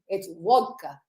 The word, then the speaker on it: vodka: It's vodka. Vodka. Vodka. That's what my There's- grandmother would have There's said. no It's D in there.